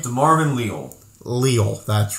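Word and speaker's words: Leal: of georgia then they took how do you pronounce his name marvin leo leo that's right i almost said cleo leo um defensive end out of a m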